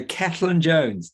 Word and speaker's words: Cellan-Jones: It's Cellan-Jones. Don't worry, lots of people can't pronounce it. So that's spelt Cellan, but it's pronounced Cellan. It's a Welsh name.